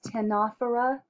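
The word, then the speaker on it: Ctenophora: something out but anyway the phyla is tenofora the sea is silent the tanofera i'm sorry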